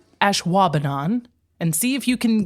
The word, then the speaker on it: Ashwaubenon: Ashwaubenon is spelled ASHWABENON. Ashwaubenon.